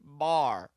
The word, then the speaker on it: bear: It's how Yeah. they pronounce bear in this movie. He's ringy as a bear and twice as strong. Not bear. Davy Crockett. Not bear. It's specifically not bear. It's bar.